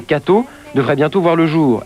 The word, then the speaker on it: K.to: À l'initiative du diocèse de Paris et non des groupes de presse catholiques, une chaîne de télévision catholique provisoirement baptisée K.to, prononcée Cato, devrait bientôt voir le jour.